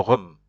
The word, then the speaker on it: rhum: You have to pronounce it like r, r, r.